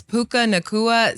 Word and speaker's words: Puka Nacua: How do you How do you say How do you pronounce that wide receiver name again? Yeah, it's Puka Nacua.